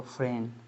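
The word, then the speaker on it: friend: हैंन अब देखो यहां पर फ्रेंड में एन डी है ना एन डी तो यहां पर एक साथ है दोनों तो यहां पर डी को साइलेंट कर देंगे। यहां भी साइलेंट है तो फ्रेन बोलेंगे इसको फ्रेन।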